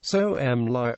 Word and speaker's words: Somalia: Pronunciation. Soh-Mali. Common English country name, Somalia. Official English country name, the Federal Republic of Somalia.